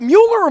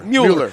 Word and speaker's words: Mueller: the tribute to heroes is it Muller Muller Miller Mueller Mueller sports because it can be pronounced either way mue ller sports medCom